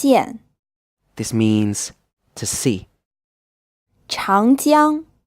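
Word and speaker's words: 长江: this means to see child young this pronounced with a second tone then a first tone it means the Yangtze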